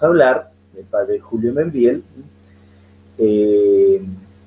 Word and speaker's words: Meinvielle: ¿Cómo se dice Membiel? Membiel, sí. Membiel. Francés, ¿no? Ah, qué francés, sí, Membiel.